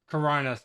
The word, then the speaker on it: Chronos: It is Coronos, CHRONOS, Before the Ashes.